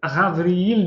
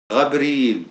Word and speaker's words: Gabriel: D'ailleurs, Gabriel, ça se prononce Ravriel, du coup, Gabriel. C'est ça, Patrick? Rabriel, oui, tout à fait. Comme en arabe.